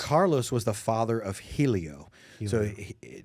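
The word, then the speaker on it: Hélio: but the the most all with RS but it pronounced with an H right right this a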